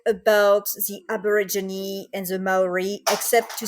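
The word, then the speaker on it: Māori: But it's gonna be the Maori culture in New Zealand.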